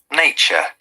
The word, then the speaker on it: nature: our nature nature okay remember in british accent there is no r an american accent there is r one more time nature